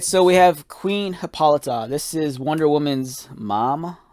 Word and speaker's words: Hippolyta: file and for me it referenced uh hippolyta you know that's the way you pronounce it you pronounce it hippolyta so yeah queen hippolyta